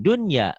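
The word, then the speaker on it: الدُّنْيَا: Nah, maka harus dibaca kinwanun, sinwanun, dunya, bunya. Tidak dibaca idgham.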